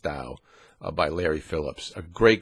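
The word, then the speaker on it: Tao: the dial of Poker ta o pronounced Dow by Larry Phillips a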